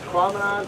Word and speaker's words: Tahquamenon: us there we go rhymes with phenomenon so there you go this prominent phenomenon prominent falls state